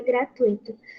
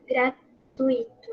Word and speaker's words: gratuito: Exemplo disso é o que acontece com a palavra gratuito, mas muitas pessoas tendem a pronunciá-la acentuando um possível hiato, gratuito, alguma coisa assim. Mas na escrita formal é preciso perceber que esse hiato não existe.